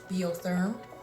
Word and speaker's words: Biotherm: to remove it and this is bo term bio therm that's when you pronounce it um it's a french